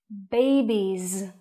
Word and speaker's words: babies: Babies. The sound is Z.